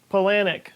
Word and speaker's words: Palahniuk: That was a quote from the book Fight Club by Chuck Palahniuk. It's also in the movie. A nihilist quote from a nihilist work. And it's true. Pronounced Palahniuk.